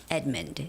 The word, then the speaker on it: Edmund: And the name of the company is Edmund. Edmund. Edmund. You know, like there's a name of guy, Edward. Edward. Ed- Ed- but it's not Edward, it's Edmund. Edmund. So, don't say Ed-mund. Ed-mund. Because O doesn't have a stress. So, you wouldn't say Ed-mund, but it's more like Edmund.